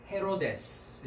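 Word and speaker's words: Ἡρῴδης: 그래서 헤로데스 이렇게 헤로데스. 우리가 헤롯 왕 하죠. 예수님 탄생 당시에 헤롯 왕, 그 유대를 다스리던 왕 이름이 헤롯이었죠. 그 헬라어 발음은 헤로데스라고 합니다. 헤로데스.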